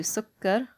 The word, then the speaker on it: سكر: So when we do sukkar, we're going to go like this. You can write it like this. It's got a shadda because kaf is being pronounced twice.